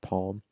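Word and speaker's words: Palme: look up the name olaf palm or plume it's pronounced palm i think it was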